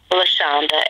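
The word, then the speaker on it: Lachanda: Are you, can you say your name again, please, and spell it? Lashanda, L-A-C-H-A-N-D-A.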